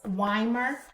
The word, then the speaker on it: Weimer: And I want you to get your hands on a book called Learning-Centered Teaching by Mary Ellen, I believe her last name is pronounced Weimer.